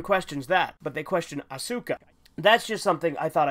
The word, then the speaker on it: Asuka: questioning the way I pronounce trio's last name asuka the technical Japanese pronunciation is asuka but for me I find it a lot